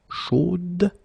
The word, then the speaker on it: chaude: You will have to put this final e, chaude, okay, at the end, and then the pronunciation will change a little bit. Chaude. So here you pronounce the final d, whereas in the masculine form you don't pronounce it.